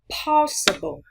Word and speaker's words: possible: Âm đầu tiên với âm o và cũng nhấn trọng âm. Chúng ta đọc là po. Possible.